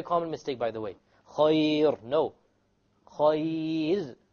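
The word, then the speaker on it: خير: Khayr. No. Khayr. Light, because there is a ya before it.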